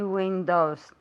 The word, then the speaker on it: windows: How many windows does my house have? No, my house. How many windows does your house have? Very good. Windows. O. O's. Como si fuera O-U. Windows.